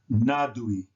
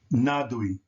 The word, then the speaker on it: nadui: This word would be pronounced nadui, nadui, because UY is pronounced ui, ui, ui. So that's nadui.